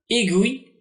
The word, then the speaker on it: aiguille: Dans le groupe GU, U se fait parfois entendre comme dans aiguille, linguiste, iguane, iguanodon. Donc le U se fait entendre.